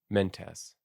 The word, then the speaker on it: Mentes: Let's also just check the pronunciations of these. Cicones, Thracian Hebrus Hebrus? Hebrus. Okay. Oh, and Mentes. Mentes.